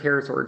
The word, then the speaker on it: pterosaur: would like to know what is my favorite pterosaur joke uh i don't know if i know